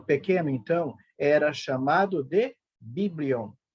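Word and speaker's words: βιβλίον: A palavra Bíblia, ela vem do grego e significa e pode ser pronunciada da seguinte maneira: biblion.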